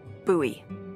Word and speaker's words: Bowie: out this huge Rusty Bowie knife it's actually pronounced buoy what no it's like the last name like